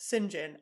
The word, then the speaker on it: St John: situation and then when singen spelled St John pronounced singen I don't get it